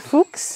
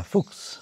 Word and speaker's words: Fuchs: Is it Fuchs or Fuch? Do you pronounce the S? In German? Yeah, Fuchs.